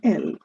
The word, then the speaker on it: elles: Ils and elles, plural, that is they. The s is silent in both cases.